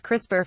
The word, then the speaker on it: CRISPR: CRISPR cos 9 or CRI SP are pronounced CRISPR for short is an experimental biomechanical